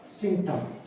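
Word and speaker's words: symptom: एक वर्ड होता है सिम्टम, सिम्टम, सिम्टम। टी के पहले आ रहा है पी, सिम्टम।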